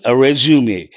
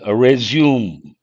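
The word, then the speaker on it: résumé: The Strokes are important I guess it's a French word how do you pronounce this resum actual pronunciation resume but because of Americans now everyone says resume information about yourself bring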